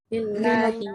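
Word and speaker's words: لله: Nah, apakah kalau lillah nanti kayak gini?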